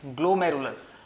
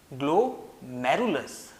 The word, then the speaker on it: ग्लोमेरुलस: Okay, तो यहां पर ये पोर्शन होगा हमारा, ये पोर्शन है ग्लोमेरुलस, ग्लोमेरुलस, ओके, प्रोनाउंस कीजिएगा।